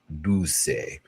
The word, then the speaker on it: Dulce: I've been saying Dulce, and it's Dulce.